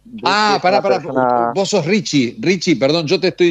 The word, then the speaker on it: Richy: lees como lo lees, se debería, o sea, si se escribe Richi, es Ricky, pero bueno, es Richie, sí, también.